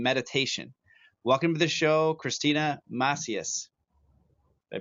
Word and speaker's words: Kristina Macias: breath work and meditation welcome to the show Christina matheus they pronounced it right thank you for having me